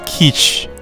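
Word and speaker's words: quiche: there's uh why are you so dumb it's pronounced keesh they're slice which is Korea like best and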